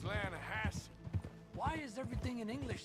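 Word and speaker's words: Lannahechee: rolled down to the Lana Hetchy river I caught some beautiful steelhead trout you mean the Lana no no Lana hatch it runs right near here yeah it's pronounced Lana Hass why is everything in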